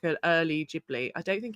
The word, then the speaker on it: Ghibli: in a in a Jibli world. Also, Los is saying Ghibli is supposed to be pronounced with a hard G like in Italian, but the Japanese call it Jiburi, so they started it.